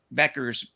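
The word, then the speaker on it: Bueckers: they didn't have Paige Beckers that's that's actually the correct pronunciation by PA Beckers um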